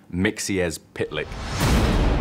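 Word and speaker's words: Mxyzptlk: with his ketchup gun and his mustard gun mixies pitlike is in the game mr mixipal tip mr mr i i can't pronounce it it's one of those tricky ones it's pronounced mixies pitlike there is so many characters that we've just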